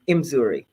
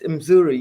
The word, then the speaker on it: Mzuri: let me just say you pronounce my name imuri I know Americans we want that hard in but it's imuri you know imuri moo